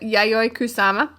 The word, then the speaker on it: Yayoi Kusama: I think this is how you pronounce it. The Yayoi Kusama.